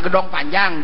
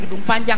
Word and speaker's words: Gedong Panjang: Ini misalnya gedong panjang di kota, ya gedong panjang, jangan jadi gedung panjang lain.